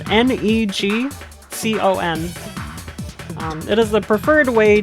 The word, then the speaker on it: NeGcon: It's, I think it's technically pronounced Negicon, because Neji is twist in Japanese, but it's Negcon.